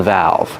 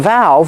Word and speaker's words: valve: a faucet for a valve we use open and close pronunciation valve use the short a sound like apple and black cat valve remember the V has a voice a vibration valve this is a